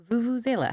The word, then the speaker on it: vuvuzela: on i had to hear the pronunciation i can't turn off now all right vuvuzela vue vuzela okay okay so i went but it's vuvuzela well the next time